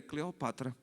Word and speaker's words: Cleopatra: a história da humanidade ela assim não não é Cleópatra é Cleópatra então de fato o nome da mulher é cleopatra mas nós chamamos de Cleópatra Parece que fica mais glamoroso né Cleópatra ninguém vai